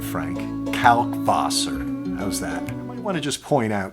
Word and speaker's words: Kalkwasser: going to say kalkwasser say it with the kalkwasser calc foss or with the v calc vosser but i couldn't keep saying that through the whole video frank said it please pronounce the w as a v sound all right frank calc